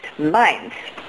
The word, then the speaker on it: meins: Das ist meins. Okay. We already learned it's like mine, but with a plural.